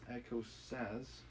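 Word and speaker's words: écossaise: and older visitors that comes is pronounced echo sas and it's an energetic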